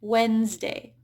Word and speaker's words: Wednesday: So notice how that D, the first D there is just silent, Wednesday.